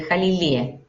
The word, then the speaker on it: Jalili: tal como se escribe Jalilie. Entonces estamos con Jamila, Jalilí, ¿cómo estás?